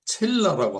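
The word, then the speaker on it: צלע: 그러니까 어 나의 나된 것은 나로 말미암은 것이 아니다 하듯이 그래서 하나님께서 그의 갈비 때 이게 이제 그 히브리어로 첼라고 하더라고요. 발음을 첼라.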